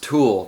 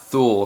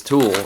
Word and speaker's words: Thule: But someone put on a comment on there and they said it's German, it's pronounced Tool, not Thule, because I was saying Thule, Thule, but apparently it's Tool, and I bet you that's where this name comes from.